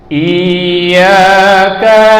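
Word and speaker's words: إِيَّاكَ: Nah, dulu saya sempat ditanyakan, Ustaz Habibie, berarti kita memanjangkan suara i-nya dong? Saya bilang enggak. Jadi ketika kamu merasakan sudah sempurna tekanan ya-nya itu, lanjutkan iya. Tapi kalau kita panjangkan iya, itu baru memanjangkan suara bacaan. Ya, jadi i itu tidak panjang, tapi kita hanya menyempurnakan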